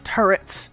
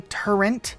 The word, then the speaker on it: turrets: now by this but these things are called machine gun turrets I hear so many people say turrent with like an N I'm